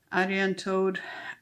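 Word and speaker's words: Arianrhod: to that you want to know more about Aran toad um yeah that's how you pronounce it um I've had on good authority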